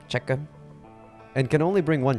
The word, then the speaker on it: Czech: That's how you say it, Czech.